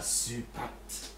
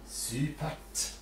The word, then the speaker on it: supert: You remember reflex R, I, and T reflex. T. Supert. It's not easy to say.